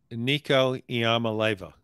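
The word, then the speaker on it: Nico Iamaleava: pike in the heart of halls can you pronounce nico's last name nico iamaleva that's perfect look at you well you know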